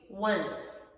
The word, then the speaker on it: once: Once, once.